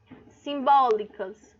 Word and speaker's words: simbólicas: Simbólicas. O bó é minha sílaba tônica, é a mais forte.